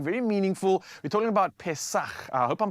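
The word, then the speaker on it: Pesach: I think it's pronounced pes pes or you can say Passover in English. Pes in Hebrew.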